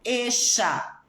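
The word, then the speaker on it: ella: falei isso para vocês, mas a letra 2 L's na Argentina também tem um som sh. Então, por exemplo, eixa, bexa.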